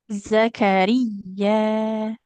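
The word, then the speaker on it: زكريا: Tidak ja tapi za. Zakaria. Zakaria Ro-nya nggak panjang, jadi bukan Zakaria, tapi Zakaria. Huruf ya-nya ditekan.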